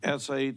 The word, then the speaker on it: shalom: we show you and I'm gonna have to spell it k r i a h b then s-h-a-l-o-m and self against HCR 71 is that correct